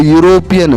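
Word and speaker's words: European: वैसे देखें तो इंग्लिश वर्ड ई काम में आ रहा है, इंग्लिश जो अल्फाबेट देखते हैं ना ई, लेकिन आप उच्चारण करोगे तो यूरोपियन, स्वर नहीं है, यू स्वर नहीं है ना।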